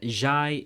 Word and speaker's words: Jye: This content creator and fellow friend of mine, Jye, yes pronounced like rye, yes pronounced like toast, yes pronounced like helicopter, yes pronounced like tuna, made an objectively incorrect fast food tier list.